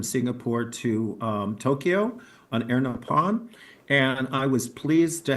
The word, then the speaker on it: Nippon: Air Nippon, that's how they pronounce Japan, the word, so it's Air Nippon.